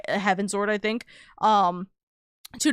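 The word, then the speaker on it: Heavensward: Salah love that it might sound weird, but it's pronounced heaven's word.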